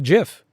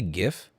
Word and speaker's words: GIF: just linux is stoic how do you say jif jif you say it like jiff don't say gif gif is weird don't do gif it's a gif it's like a giraffe denial of use of